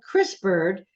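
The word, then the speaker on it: CRISPR'd: brain um the book that you had trouble pronouncing yeah sorry about that okay the book is called Chris bird c-r-i-s-p-r apostrophe D and it's a medical Thriller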